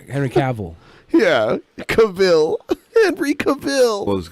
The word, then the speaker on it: Cavill: Henry Cavill.